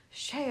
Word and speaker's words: shea: have brought you This shea butter sa for your nipples you call it shea butter did weird mhm it's like pronouncing the H and white sorry oh no don't